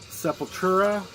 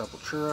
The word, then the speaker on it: Sepultura: Sepultura.